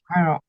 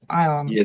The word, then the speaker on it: iron: Yeah, it should be iron without r, yeah? Iron.